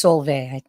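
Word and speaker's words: Solveig: By the way, it's Solvay. The G is silent.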